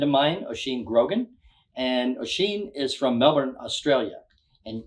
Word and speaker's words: Oisín: and when I'm sexy Irish so it's actually pronounced machine ah yeah but I've been in Australia most